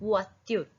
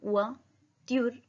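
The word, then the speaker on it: voiture: अ कार, कार को बोलते हैं वात्युर, व ओ आई का साउंड वा त्युर, वात्युर, युन वात्युर।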